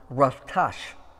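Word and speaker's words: רצח: You know, the Hebrew word for this word, kill, is the word that is pronounced ratash, which is used in this commandment for the word murder.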